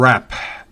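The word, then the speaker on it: wrap: con otros verbos regulares el verbo rap mire que esas doble esa W no se pronuncia rap no es bueno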